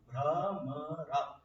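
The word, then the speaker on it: भ्रमर: Brahmara. Ra is used 2 times. So, in the word Brahmara, which means bee, it has got 2 utterances of Ra.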